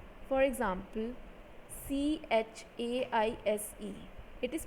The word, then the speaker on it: chaise: Third, in French, CH always has the sound SH. For example, CHAISE, it is pronounced as chaise.